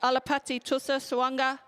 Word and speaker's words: Alapati Tusa Suanga: My apologies, Alapati Tusa Suanga. That's how you say his name.